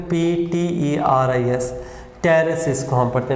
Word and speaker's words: Pteris: एक से for example यहाँ पे मैं ऐसे लिख रहा हूँ, यानी फर्न्स के एग्जांपल है ना, ये P साइलेंट होगा इसमें, ठीक है ना, PTERIS, टेरेस इसको हम पढ़ते हैं, P साइलेंट है।